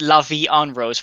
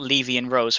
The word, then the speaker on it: La Vie en Rose: You meant La Vie en Rose, right? Not Levy and Rose, right?